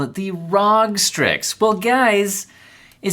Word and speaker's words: ROG: raw exception and and that's right i said rog okay it's the rog strix and in my unboxing video many comments were super upset that i called it the rog strix well guys it says rog it it